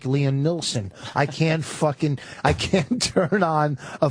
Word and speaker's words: Neeson: Liam Neeson is up there already. Why, what's his name? Neil. It's Neeson.